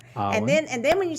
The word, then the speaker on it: Awyn: So you guys don't put an R in there. Awyn.